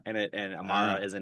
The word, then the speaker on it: Amara: It's pronounced Amara and it and Amara is a name that means eternal or everlasting.